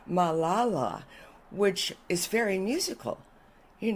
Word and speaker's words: Malala: Malala, the accent on the middle.